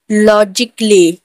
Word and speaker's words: logically: म्यूजिकली में यहाँ पे देख डबल एल वाई के आगे ए है तो ए यहाँ पर साइलेंट होगा। लॉजिकली, LOGICALLY, लॉजिकली।